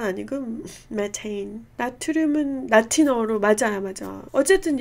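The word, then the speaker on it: methane: 메탄 아니고 메테인. 나트륨은 라틴어로 맞아요, 맞아. 어쨌든 영어 발음은 이건데 이제 바뀌게 되는 거죠.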